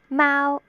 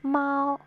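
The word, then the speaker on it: 貓: Cantonese is pronounced Mao. Mandarin is pronounced Mao. There is a slight difference.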